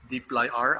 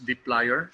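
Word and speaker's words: dplyr: the player or deeply r others uh pronounces as deep like r others pronounce it as d player so doesn't uh doesn't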